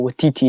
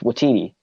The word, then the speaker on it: Waititi: Yeah, but you don't have to go Waititi. It's just Waititi.